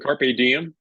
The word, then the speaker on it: Carrpediem: Dave Carr owner of let me get the pronunciation of that name the company Dave the owner of carpe diem Carpe Diem and you can feel free to